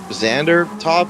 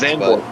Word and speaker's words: Zandvoort: It's called Xander Top. It's a very tough name to pronounce. Zandvoort.